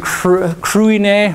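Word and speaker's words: Cruithne: I can't pronounce that first one, Kruine, or something like that. You don't pronounce the TH.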